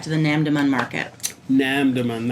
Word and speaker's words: Namdaemun: the NAMM demand market NAMM demand that's how you say it and one of the